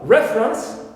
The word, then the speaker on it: reference: Also, reference, we stress here first syllable, although the verb is refer, second syllable in the original stem is stressed. But here we have a shift of stress to the first one, clear, because it's